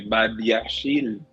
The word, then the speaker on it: Badiashile: I find it very funny when you say Badiashile. Mm-hmm. I've never heard of this player, but that's the way it's pronounced.